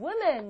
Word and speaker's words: women: 두 명이 되면 two women. 이렇게 됩니다. man 발음만 바뀌는 게 아니라 W-O인데도요.